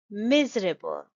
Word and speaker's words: miserable: underlined each syllable and the stress is on the first syllable shown by the arrow so the pronunciation is miserable you will stress the